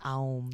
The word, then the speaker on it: Om: And Om is the universal sound of all of us. It's 3 syllables. It's ah, o, and and I like Aum.